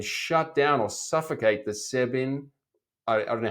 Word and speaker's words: SEBIN: to encircle and shut down or suffocate the Sebin, I don't know how you pronounce it, Sebin, Sebin officers, Irene. Sabin, yeah.